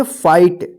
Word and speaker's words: fight: देखिए यहां पे आई के बाद भी GH है तो इसको क्या पढ़ेंगे, फाइट, इसको फिट मत पढ़िएगा या फिगट मत पढ़िएगा, ठीक है ना।